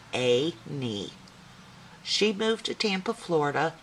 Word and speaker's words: Annie: Everyone called her Annie, pronounced A-nie.